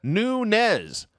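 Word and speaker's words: Nunes: her way she put amanda nunez actually that is how you're supposed to pronounce it okay yes i don't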